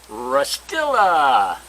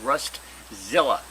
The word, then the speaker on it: Rust Zilla: stuff but my goodness it's rastila rust Zilla pardon me I said it wrong rust Zilla now you may remember